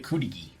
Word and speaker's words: Cudighi: He's familiar with Cudighi. Is that how that's how you pronounce it, right? Cudighi? Cudighi.